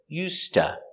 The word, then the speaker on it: used to: ta so used ta the d used is silent because it's before a t so usta the s is pronounced